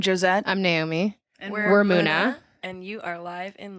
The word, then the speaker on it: MUNA: What's the proper pronunciation? Muna. Muna.